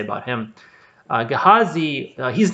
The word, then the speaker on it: Gehazi: name is pronounced differently a lot of sources say it's pronounced gehazai um i think uh some of them say gehazi i prefer gehazi so i'm just gonna call him that uh but anyway so